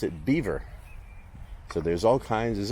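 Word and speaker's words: Belvoir: BVO that would be the prop pronunciation they pronounce it Beaver so there's all kinds there's always like belois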